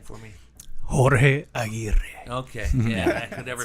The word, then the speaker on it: Aguirre: Jorge Aguirre. Okay. Yeah, I could never pronounce it like that.